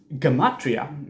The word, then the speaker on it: Gematria: mata you can see that connection there so Gematria as you would pronounce it nowadays is this original way of